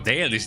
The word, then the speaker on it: Dalish: Oh, Dalish, that's how you pronounce it, Dalish.